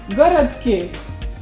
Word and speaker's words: городке: We know that word is городок, but in prepositional case, stress is shifting to another vowel, and here we are pronouncing городке.